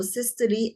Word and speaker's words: systole: احنا we pronounce this E. So systole and diastole.